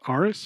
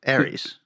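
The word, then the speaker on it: Ares: things and he plays I think it's pronounced Aris from Justice League a-r-e-s uh Fargo TV show all the Harry Potter movie oh Aries Aries and he played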